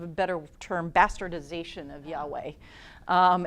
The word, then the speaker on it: Yahweh: up with jehovah but it's actually just a weird way of saying Yahweh know what the term